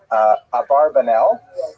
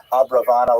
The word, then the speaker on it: Abravanel: Oh, I should mention, by the way, many people pronounce the same Abarbanel, and that's because of the, it's much easier, as Stephen says, it's much easier to rhyme the song to the name Abarbanel, if you know what I'm talking about, right, with Schlock Rock version of Abarbanel, but it's most likely pronounced Abravanel or Abrabanel.